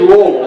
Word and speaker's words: Louisville: But it is Louisville like you got marbles in your mouth or whatever.